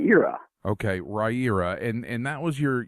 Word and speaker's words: Riyria: pronounced ed it's pretty right era as in rye as in the bread ear as in the body part and ah that's how you pronounce right you're up okay Riya and and that was